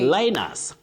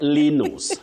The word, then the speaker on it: Linus: Linus, not Linus, not Linus.